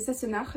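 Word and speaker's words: Sassenach: fil et le colori c'est sassenard c'est j'essaie de le prononcer avec l'accent écossais comme dans la série Outlander mais ils le font mieux que moi je le trouve très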